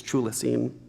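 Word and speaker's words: Chthulucene: trouble making kanan the chula scene spelled like cthulhu scene very strange she says truly seen perhaps framed very very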